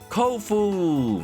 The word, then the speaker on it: Kofu: Kofu! Rhymes with tofu.